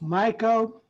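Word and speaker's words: Mico: Is that pronounced Miko or Miko? It's Miko.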